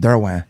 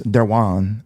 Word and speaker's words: Derouen: Yeah, which my last name is actually pronounced Derouen. Okay. Or in New Iberia, it's Derouin, and then in France, it's Derouin.